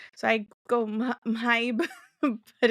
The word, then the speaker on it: Mhybe: I try to pronounce the H's, so I go Maib, but it's too difficult to keep saying.